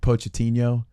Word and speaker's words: Pochettino: Poached, like I always botch the pronunciation of it, but like Pochettino.